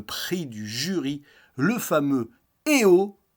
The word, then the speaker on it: Eo: du Jury le fameux eh oh d'ailleurs parce que ça se prononce comme ça donc exit toutes les